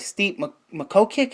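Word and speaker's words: Stipe Miocic: fighters and and I think he should fight steep makho kick is how you say his name or JDS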